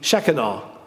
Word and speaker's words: Shekinah: manifestation of god's spirit the shekinah as we say in english that's not it's not it's pronounced in hebrew but the shechenal the glory of god